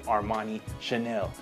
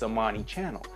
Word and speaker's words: Amani Channel: like to call me armani Chanel my name is not Armani Chanel it's a monty channel now I don't get